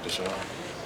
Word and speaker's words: Dashawn: Because I've heard people say it's Dashawn, or is it just? I prefer to go by Dashawn.